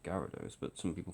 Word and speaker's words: Gyarados: my laptop to handle gados even though it's pronounced Gyarados but some people call it girados because they have some sort of deficiency the